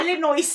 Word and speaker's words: Illinois: taga illo illo illin Illinois Illinois may s man illin five may s man daw Tita kaya Illinois silent s silent s na daw yun cling